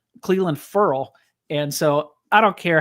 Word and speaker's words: Ferrell: that we discovered that he pronounces it Furl, Cleveland, Furl. And so, I don't care how you say it, if it's Ferrell, Furl, whatever.